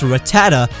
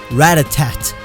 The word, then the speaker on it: Rattata: But there's no excuse to pronounce Rattata as Ratatat or Ratatak.